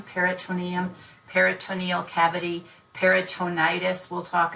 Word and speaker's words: peritoneum: to be able to differentiate that word from perineum there's an extra syllable when we're talking about the GI tract or gastrointestinal or abdominal area peritoneum peritoneum peritoneal cavity peritonitis we'll